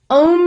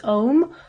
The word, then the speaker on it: Om: Om you will see written O-M.